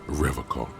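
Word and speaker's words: Revachol: He pronounces Revol with a hard K, unlike other people.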